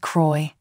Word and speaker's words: Croix: A second person said, "Croy, seriously," and a third person wrote, "Croix. Say it like Croy.